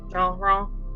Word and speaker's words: Gendron: Gendron. The GND, because that's how they did it. And it was RON, right? N.